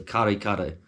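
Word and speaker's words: kare-kare: but number three or if you want to say in an English accent you probably say curry curry but it's spelled k-a-r-e then the same again so karikaru um so yeah again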